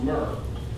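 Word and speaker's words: murre: it's an ocean bird it's m-u-r-r-e but it's pronounced myrrh beautiful and by the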